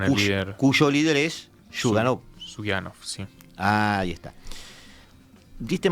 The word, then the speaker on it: Zyuganov: Disculpa, las pronunciaciones, José, me auxiliarás cada dos pasos. Zyuganov. Sí. ¿Cómo? Zyuganov.